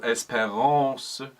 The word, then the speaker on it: espérance: And of course, because this is French, on those strong syllables, lean in, and then on the syllables towards the ends of the words, for example, espérance, make sure the last syllable is considerably lighter.